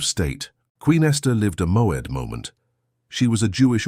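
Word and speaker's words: מועד: The Hebrew word that defines exactly what is happening to you is moed. Pronounce it with me in a low voice wherever you are.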